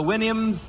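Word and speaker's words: Houyhnhnms: kingdom was the wins remember the wins to sound to pronounce supposed to pronounce it like you do a horse's Winnie I think okay here's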